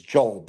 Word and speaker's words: Diop: Some of you pronounce it diop, but the dio p makes is job.